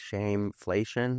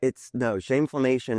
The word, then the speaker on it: shameflammation: You said it right. Right? Okay. Which is rare. Normally people are like shameflation. Right. I feel like it's some economic term. But shameflammation is just an intersection,